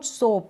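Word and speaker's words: soap: रोज coach boast coast roast गोट coat load सोप अब सोप पढ़ रहे हैं। शॉप नहीं पढ़ रहे। सोप और शॉप दोनों में फर्क है।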